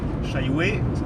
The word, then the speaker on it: Chailloué: Chailloué, ça se prononce comme ça, oui. Même si ça ne s'écrit pas comme ça, c'est entre Nonanlepin et Gacé.